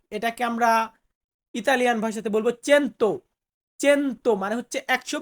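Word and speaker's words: cento: বা 100 শত এটাকে আমরা ইতালিয়ান ভাষাতে বলবো চেন্ত চেন্ত মানে হচ্ছে 100 বা 100 সো ভিউয়ার্স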